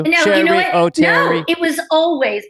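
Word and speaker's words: Oteri: Yeah, as soon as I moved to LA, people said O'Terry because why wouldn't it be pronounced that way if Sherry is E-R-I?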